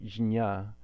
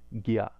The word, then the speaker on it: jña: would try to say jnya, but it ends up wasting a lot of prana. And so how we pronounce it instead is gya, like a G and a Y sound.